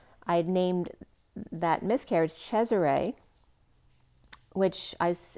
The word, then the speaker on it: Cesare: i was young i had named that miscarriage cesare which is it's caesar the way it's pronounced in italian is cesare but i don't like the name caesar the